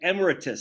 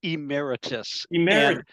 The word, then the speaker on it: emeritus: Emir how do you emiritus I can never pronounce that word emiritus oh that's I I forget sometimes that we we say Emeritus there you go if if